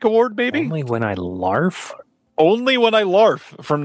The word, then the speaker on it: Larf: RFV is saying the R is silent. Only when I laugh.